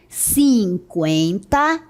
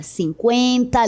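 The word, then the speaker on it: cinquenta: Então, todas as palavras antes que tinha esse trem indicava que ela deveria ser pronunciada, certo? 50, linguística, consequência, frequência e tranquilo para evitar que se pronunciasse sem mencionar o U.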